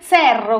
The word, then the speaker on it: Cerro: Giocava nel Cerro, così si pronuncia, giusto?